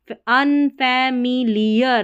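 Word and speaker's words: unfamiliar: टू, UN अन, फैमी, FA फै, MI मी, LIEAR लियर, lawyer नहीं पढ़ना, लियर, फैमी, अनफैमिलियर, अनफैमिलियर।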